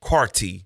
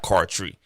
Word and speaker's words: Carty: said his name wrong it's cameron carty not card tree but cameron carty you know i'm saying